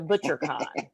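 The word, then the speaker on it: Bouchercon: Because I remember my mother-in-law, who was my first client, she always went to ButcherCon, which was a mystery writer's con. That sounds like a steak place or something. It's spelled BOUCHER.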